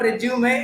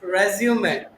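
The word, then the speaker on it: résumé: It's not resume, it's resume.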